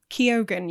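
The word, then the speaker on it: Keoghan: as Warren Lipa Barry kogen kogen Yeah question mark no that's well I looked it up that is apparently the correct way to pronounce it well we'll go with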